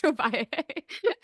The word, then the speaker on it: Ovalle: So we just have all of our guests request Josh Ovalle. That's the thing we have. So wait. How do you pronounce their last name?